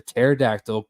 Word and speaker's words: pterodactyl: you ever hear a pterodactyl go into the bathroom because the p is silent all right let's go